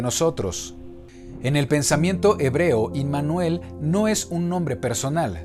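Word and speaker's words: עמנואל: Un estudio detallado bajo la óptica de raíces hebreas nos confirma que Yeshua es Emmanuel, o su pronunciación en hebreo, Immanuel, que en hebreo significa Elohim entre nosotros.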